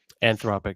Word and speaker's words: Anthropic: is it anthropic Louis let me hear your pronunciation of what this company's called anthropic that's correct okay yeah I know if you